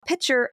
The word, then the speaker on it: Picher: So we're talking about Pitcher, Oklahoma, for a little bit. You ever heard of Like a water pitcher? it? Without the T.